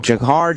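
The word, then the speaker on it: Dzhokhar: Jahar, Jafar... A lot of letters with no vowels? Yeah because it starts D-ZHO but its definitely pronounced like a jay and they finally find him everybody's like yay!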